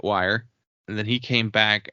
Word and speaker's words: Wir: and they put out one record as wire without the e just wiir but they still pronounced it wire and then he came